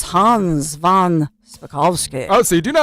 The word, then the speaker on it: von Spakovsky: But it's Hans von Spakovsky. Oh, so you do know how to pronounce the last name?